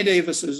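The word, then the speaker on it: Dewes: german pronounced davis uh the w being pronounced like a v like an off feeder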